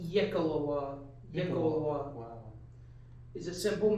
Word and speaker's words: YKLWA: YKLWA. Pronounced Yekalawa.